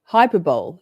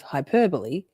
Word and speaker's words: hyperbole: say that I also every time go to say hyperb instead of Hyperbole and for about 11